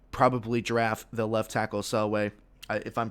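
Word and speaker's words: Penei Sewell: are going to probably draft the left tackle sell way if i'm pronouncing that or that or names excuse me penny sewell that's how you pronounce it but we're kind of getting on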